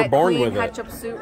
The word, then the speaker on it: Hatshepsut: It's Hatshepsut. Okay, and Ketchup with an H.